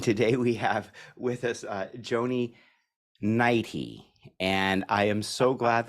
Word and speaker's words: Joni Neidigh: And today we have with us Joni Neidigh.